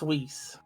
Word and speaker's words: Whis: berry do you name that's whis oh oh good thing you pronounced that cuz I was about to call him whiz when I saw the